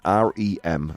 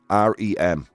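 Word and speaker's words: R.E.M.: related to abnormalities in REM sleep did you hear that spin r-e-m the band that sang Losing My Religion it's pronounced REM not REM guys you'll go see Arya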